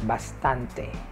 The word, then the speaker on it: bastante: poco and enough like enough already so it's bastante bastante b-a-s-t-a pasta pastante so those are the